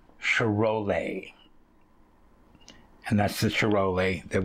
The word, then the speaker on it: Charolais: the other ones which I was pronouncing completely wrong while I was saying Charolais or something like that it's um cherole and that's the cherole